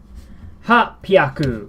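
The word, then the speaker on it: はっぴゃく: The answer is ha pyaku.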